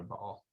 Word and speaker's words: Baal: pronounced by all so you can choose whether you're pronouncing hebrew or aramaic and um and that'll change whether it's bail or ball so so those are